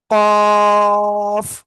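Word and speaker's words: ق: জায়গায় যদি দুইটা হয় তাহলে আমরা কি জিহ্বার গোড়া তার বরাবর উপরের তালুর সাথে লাগিয়ে আমাদের একটা অক্ষর হবে দুই নুক্তালা কফ এটা এটা অক্ষরের নাম কি হবে? কফ।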